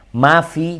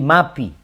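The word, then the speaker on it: ما في: Umpamanya mafi jadi mapi. Mafi, mafis samawati, mapis samawati.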